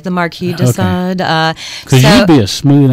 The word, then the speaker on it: Sade: No, it's actually more like de Sade, like the Marquis de Sade.